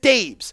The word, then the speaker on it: Daboll: I know it says Dabs, but that's how he spells it, and he pronounces it Dabes.